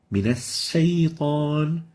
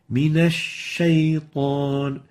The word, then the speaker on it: الشيطان: In this case, we've started a sin before the sheen, min as-saytan, or totally replacing the sheen with a sin, like saying min as-saytan. In both cases, it's wrong, and the right way of pronouncing it is like this. من الشيطان Min ash-shaytan. Make sure not to replace the sheen with a sin or mix it with it.